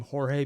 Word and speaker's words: Jorge: was writing this also I've been told to say his name Jorge because the Spanish pronunciation but the guy who's